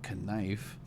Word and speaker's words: knife: And like in English, you can sound out a certain word, just like knife, Nice. and you'd be like, well, why? There's the K silent.